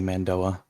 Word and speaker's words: Mando'a: as mandoa um and the pronunciation for that is uh varies between everyone when I'm speaking English just like I'm in my normal accent I say mandoa but when I'm trying